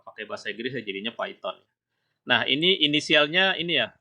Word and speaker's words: Python: Jadi ada yang baca Python ya, kalau Anda dengar di YouTube gitu ya, ada yang bacanya Python ya. Kalau pakai bahasa Inggris ya jadinya Python.